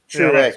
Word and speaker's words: Truex: I would think it'd be True. Not Trey. Right? Yeah. No, it's American. If it's Truex. Truex. Correct. X. Like X to the Z.